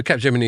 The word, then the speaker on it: Capgemini: Yeah, So Capgemini is the proper way of pronouncing it.